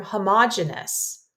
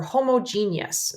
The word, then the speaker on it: homogeneous: We use the term homogeneous or homogeneous. Sometimes it's pronounced either way.